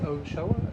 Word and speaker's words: Ochoa: So you're Deputy Ochoa, is that how you say it?